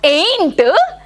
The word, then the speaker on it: ain't: So, ain't is a kind of aunt. It's a slang word. Usually used by blacks. Black people. African American people. It's not aunt, it's aunt. Ain't.